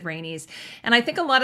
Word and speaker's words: Rhaenys: was saying Rhaenys because I thought Rhaenys rhymes with anus, right? Thank you. Some people were like saying Rhaenys, and I'm like, no, it sounds like anus. And then so I was saying Rhaenys.